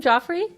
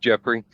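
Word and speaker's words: Geoffrey: So, welcome Joffrey. How are you? Thank you. I I I appreciate you using the the British pronunciation of my name, but I'm Americanized, so it it's just Jeffrey.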